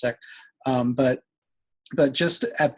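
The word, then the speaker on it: Sikh: uh students who are Muslim and siik um seik seek they pronounce it's pronounced siik um but but just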